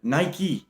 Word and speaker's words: Nike: Like what I'm saying here, Nike, 2 syllables.